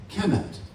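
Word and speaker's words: Kemet: They referred to themselves um by three hieroglyphic characters K MT phonetically. Kement ke that is at the root of the word alchemy.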